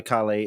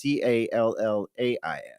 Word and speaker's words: Callais: And it's not regular Caille. It's Callais.